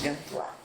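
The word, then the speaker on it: Gantois: Se escreve Gantuís e se diz Gantuá.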